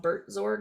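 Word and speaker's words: Buurtzorg: another company is in the Netherlands that's called Bert zorg it's spelled b-u-u-r-t-z-o-r-g it's a Healthcare company uh and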